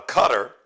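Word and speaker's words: Qatar: Google it but cutter it's pronounced cutter uh they' they've broken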